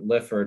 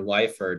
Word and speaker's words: Lyford: the mid 1620s when john lifford or lyford that sometimes uh is pronounced is sent over by